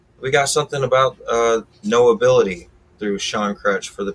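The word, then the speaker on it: Know Ability: now on all platforms no ability is sean crutch's um brand that he represents is all about knowing that you have an ability so it sounds like no ability but it's spelt k-n-o-w ability so knowing you have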